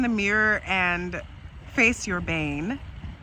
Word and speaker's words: Bane: And if you look in the mirror and face your Bane, which ironically rhymes with pain.